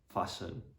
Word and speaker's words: fasten: So the letter T is usually going to be silent in the STEN ending. So for example, in the words listen, fasten, moisten, glisten.